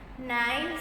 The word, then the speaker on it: knives: Knives is the plural form of knife, and K is silent here. The pronunciation is knife. but it is written as KNIFE.